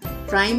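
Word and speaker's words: rhyme: राइम में H silent है.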